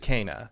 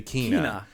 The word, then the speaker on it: Kena: Kina, however you want to say it. In the game, they say it like 3 different ways. By the way, the game says it multiple different ways. She says it Kana. Yep. The little kids you meet early on say Kina.